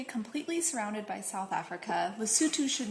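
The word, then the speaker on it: Lesotho: never even heard of spelled loto but pronounced lutu a tiny country completely surrounded by South Africa lutu should not be discounted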